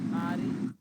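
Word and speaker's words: ख़्वारी: ख्वारी, वाव नहीं पढ़ते हैं उसको, ख्वारी।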